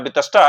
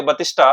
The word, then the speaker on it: वितस्ता: कि बतिस्टा है ना यहां वितष्टा है पर इसको मिस प्रोना प्रोनाउंस करें और बोले बतिष्ठा तो बतिष्ठा एक डब्ल्यूडब्ल्यूई फाइटर था।